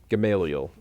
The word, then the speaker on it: Gamaliel: We had a little question on how you actually pronounce it, but how did we decide? Gamaliel is... Gamaliel.